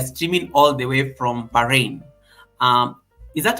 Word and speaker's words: Bahrain: today we are streaming all the way from Bahrain um is that how I say it is that how you say it lady POS how I say it correctly Perfecto it's called baharin Bahar yeah bah yeah that one baharin baharin